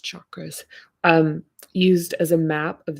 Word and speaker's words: chakras: The first recorded history of the exploration of the hubs can be found in the 4,000-year-old framework of the chakras, properly pronounced chakras, used as a map of the human experience, with 7 predominant centers connected to over 100 other minor energetic concentrations.